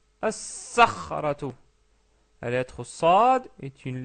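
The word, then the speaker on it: الصخرة: Ça devient as-sakhratu, as-sakhratu. La lettre sad est une lettre solaire. Donc on rajoute la shadda et on ne prononce pas le lam.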